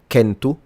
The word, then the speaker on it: centu: For instance, the way they pronounce 100 is centu, and in classical Latin is centum.